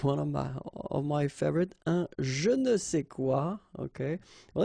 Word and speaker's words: je ne sais quoi: Okay, and then phonetically, of course, it's the same pronunciation. Okay, un je ne sais quoi, des je ne sais quoi.